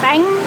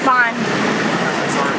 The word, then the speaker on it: bánh: It's bang, like you have to go up. Still didn't do it right. But you gotta go up in your inflection, it's very important. It's not bahn.